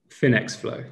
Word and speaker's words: FinxFlo: So how do you pronounce it? Finx or Finx? Finx Flo, yeah.